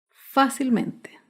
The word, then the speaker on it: fácilmente: Fácilmente se acentúa en la sílaba anterior a la antepenúltima sílaba. Fácilmente.